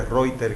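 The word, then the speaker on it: Reiter: Y hay una variante, el Reuter, que se pronuncia Reuter, que es con uretritis.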